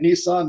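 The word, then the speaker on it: Nison: my my favorite CMT book was the Steve niss book I'm I was gonna say sounds like it am I pronouncing it right Nissan Nissan you know throw up a chart 22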